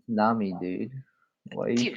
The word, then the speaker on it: Nami: It's Nami, dude. Why are you Dude, pronouncing these why are champions you so coming weirdly?